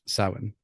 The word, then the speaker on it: Samhain: So Samhain, for those listening, you'll probably recognize the spelling more than you will the sounding. You'll It's spelled Samhain, which you probably know as the original Halloween, but is pronounced Samhain.